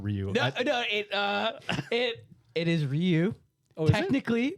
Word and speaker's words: Ryu: It is Ryu. Oh, technically, because Ryu is that's how it's pronounced in Japanese.